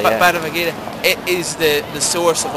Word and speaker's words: Bhagavad Gita: Oh, Bhagavad Gita.